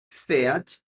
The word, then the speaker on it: fährt: Klaus fährt nach Nürnberg. Lembra que com umlaut a pronúncia muda. O A vira um E.